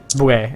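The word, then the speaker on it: Bulette: It's boue, that's how you pronounce it.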